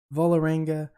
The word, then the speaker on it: Vålerenga: right guys welcome back uh we are playing bullaranga i just watched a video on how to pronounce that volaranga they play in norway we beat them two